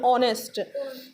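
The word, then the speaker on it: honest: तो हम एच नहीं बोलते ना, ओनेस्ट नहीं बोलते, इसको एच साइलेंट होता है, हम बोलते हैं ऑनेस्ट.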